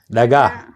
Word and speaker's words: dhagax: How do you say dhagax? Yeah. Because you don't have the ha sound in it.